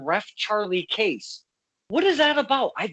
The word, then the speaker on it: Cayce: And I believe his name is actually pronounced Edgar Cayce.